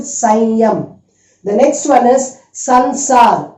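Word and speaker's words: संसार: So it is, listen to me and just pronounce it Sanyam. The next one is Sansar. S-A-N-S-A-R.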